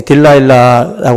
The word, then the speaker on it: 딜라일라: 근데 이 노래가 이제 영어 발음으로 이 딜라일라라고 하고 이제 히브리어로다가는 지금 우리 성경에 번역되어 있는 이 들릴라라고 하는 이 발음이 사실은 가장 원어에 가까운 그런 그 발음이라고 그래요.